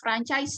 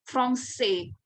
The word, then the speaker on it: français: Jadi dibunyikannya dengan ada kalian misalkan ke toko buku ya, melihat ada kamus yang depannya ada tulisan franchise ya, tapi français ya, artinya bahasa Prancis.